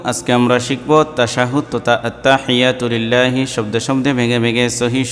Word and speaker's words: التحيات لله: অনেকেই ভুল পড়ি আমরা এখানে, আত্তা লম্বা করি অথবা আত্তাহিয়াতু হিয়াতু এরকম পড়ি। সঠিক উচ্চারণ হচ্ছে আত্তাহিয়াতু লিল্লাহি, এরকম।